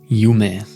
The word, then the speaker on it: Yume: Yume, the Japanese word for dream, or Yum, as we like to pronounce it, to have a more English and smooth character to it.